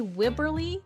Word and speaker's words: Wibberley: And on this author spotlight I am welcoming author duo Wibberly and Austin Sigman Broka. Did I pronounce this correctly?